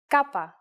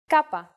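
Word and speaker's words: κάππα: alphabet so let's go our first letter this time is again a consonant Kaa it sound is C and it looks like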